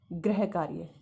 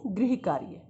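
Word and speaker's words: गृहकार्य: जैसे कि हम ये लिखते हैं इसको बोलते क्या हो, गृह कार्य, लेकिन ये उच्चारण पूर्ण रूप से गलत है क्योंकि ये री की मात्रा है री, तो इसे हम बोलेंगे गृह कार्य।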